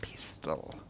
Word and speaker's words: pestle: You'll need to build a mortar and pestle. I think the T is silent.